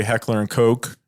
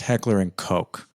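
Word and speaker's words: Heckler & Koch: time another conversation but I believe it's pronounced Heckler and Coke now correct me if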